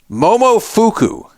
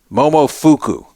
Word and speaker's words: Momofuku: Finally, Momofuku. Sounds like a fake name. Momofuku. Spelled like Momo fuck you, except without the C.